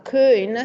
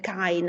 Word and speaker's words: Köin: E questo testo, questa parola è interessante perché abbiamo questa Köin che non è Kain, no? Magari appunto pensando al tedesco, chi trascriveva ha pensato dobbiamo far capire che non si dice Kain, quindi hanno messo la